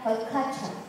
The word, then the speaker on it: haute couture: Tulisannya haute couture. Bacanya haute couture.